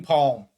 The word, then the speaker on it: palm: I always say palm. I do not say the L.